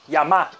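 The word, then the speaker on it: 山: A leitura japonesa é yama. E a leitura chinesa é san. Então, como o significado dele é montanha, então quando vemos esse kanji sozinho, vamos ler yama.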